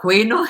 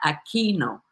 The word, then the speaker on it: Aquino: It's not Aquino, it's Myra Aquino.